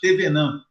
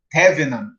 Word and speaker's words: Thévenin: né esse tal de Teorema de tvan outros falam de teven tvan tven então vocês vão escutar algumas pronúncias aí Diferentes né Eu costumo falar o teorema de de tvan tvan não vou me